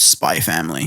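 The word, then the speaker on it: Spy × Family: forget it oh yeah the way you pronounce this Show's name is just spy family there's no X in it there is no X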